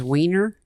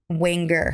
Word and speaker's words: Winger: Did you say his name was Wiener? Winger.